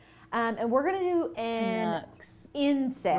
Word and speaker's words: Canucks: And we're going to do Canucks. Inset. Rhymes with ducks.